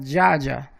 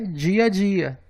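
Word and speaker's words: дядя: Então o som não é duplo, não é dia a dia, nem tampouco dia a dia.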